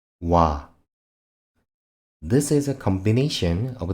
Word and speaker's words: 와: 와, 와. This is a combination of the basic vowels O and A. 와 is pronounced like the initial sound of words wide or wire.